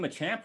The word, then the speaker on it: Machop: it ponyta ponita right it has to be my champ right because he's a champion he's wearing that belt yeah though but it's